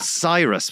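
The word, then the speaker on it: Psirus: We were called Cyrus with a silent P.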